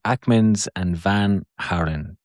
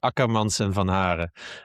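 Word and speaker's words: Ackermans & van Haaren: I definitely said that name wrong because I can see you laughing. I think it's called Akkermans and Van Haren.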